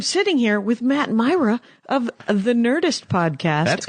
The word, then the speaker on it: Mira: I've always pronounced it Mira. I'm wrong. Many it's people Matt have. Myra. Yeah. But it's Mira, Yeah.